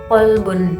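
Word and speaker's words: قلب: Misalnya pada kata kolbun dengan kata kalbun, yang mana kolbun ini kan artinya hati, dibacanya itu dengan huruf kof ya, kolbun gitu.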